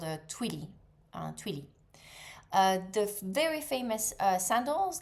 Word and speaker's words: twilly: And the one that you wrap around the the the handle of your bags, that's called a twilly.